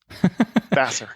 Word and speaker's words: Vassar: How's that pronounced? Vassar.